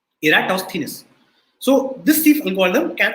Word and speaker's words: Eratosthenes: of eratos venus right the sieve of eratosthenes and this is how you pronounce the name you say era toss thinness okay eratosthenes so this thief algorithm